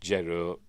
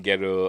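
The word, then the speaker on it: Gero: Uh and the fact that we've got Martin Grow, who I pronounced Gerro in video the other day, but never mind. Martin Grow and Joseph Malots and Brad right there.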